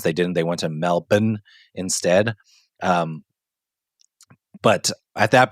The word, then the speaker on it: Melbourne: was that Trevor Tommy it's pronounced melbour so you know I